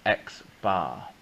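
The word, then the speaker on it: x̄: often write this and that's pronounced x-bar because it's got a bar on its head so x-bar is 6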